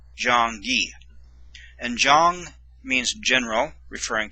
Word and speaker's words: 장기: And this letter makes a G sound, sound of the letter G, which is G. And this makes a long E sound, so it's Gi, Jong-gi.